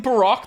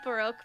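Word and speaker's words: Barok: I say Baroque because that's how they say it in the Japanese version, and because he's, quote unquote Baroque, like Baroque themed. So I think, and Baroque is actually a real name, so I think his name is pronounced Baroque, but Baroque is fine.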